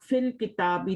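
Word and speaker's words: في الكتاب: इसी तरह फी भी आप फिल किताबी, तो या नहीं पढ़ा जाएगा, यहाँ पे सिर्फ फिल किताबी, फी पढ़ा जाएगा, यहाँ नहीं पढ़ा जाएगा, इसको प्रोनाउंस नहीं किया जाएगा फिल की। जो भी खाली लेटर होता है ना उसको नहीं पढ़ा जाता, फिल किताबी।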